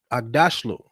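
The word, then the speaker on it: Aghdashloo: Agdashlu.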